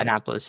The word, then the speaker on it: Annapolis: such a big convention like in Annapolis, I pronounced that right? Annapolis. Yeah, Annapolis.